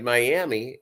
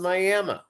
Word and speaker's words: Miami: you may say well that's reads like Miami yeah yeah it's actually uh they pronounce it Miami and I think it's because that is there's a Native American tribe and I think that is where they get the name from Miami and they have